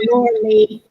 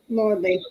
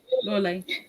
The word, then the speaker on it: Lawley: Lawley. Okay. Lawley. See, now I deliberately pronounced the E in the middle, so I've been getting it wrong anyway.